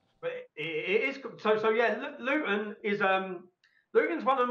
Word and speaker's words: Luton: So we pronounce it Luton. We drop the T. Yes, Luton.